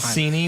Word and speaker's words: Mancini: Mancini when I look at Google. Now it's a cursory search, but it does say Mancini according to Google.